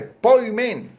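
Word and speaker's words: ποιμήν: Dice una palabra que se pronuncia, es del griego, dice poimen. Poimen.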